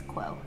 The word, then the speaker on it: Kuo: would be cool but the English pronunciation is quo okay okay so this